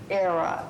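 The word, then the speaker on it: Aira: with blindness the name of the app is era I'm going to spell it just in case a i r a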